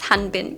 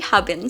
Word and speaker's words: Habin: I think I've been pronouncing his name as Hanbin, but it's actually Habin, so I'm so sorry about that.